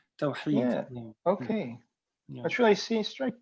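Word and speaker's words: توحيد: But you described the meaning of a couple of Arabic words, and Khalif, and I'm not sure if I pronounced this right, Tawheed. It's a hard H. Tawheed.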